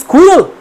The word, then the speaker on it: squirrel: এটার কিন্তু actually British RP অনুযায়ী রিসিভ প্রনাউন্সিয়েশন, যেটা মডেল, সেটা অনুযায়ী এর সাউন্ড স্কুইরেল, এটা আমেরিকান অনুযায়ী স্কোয়ারেল হয়।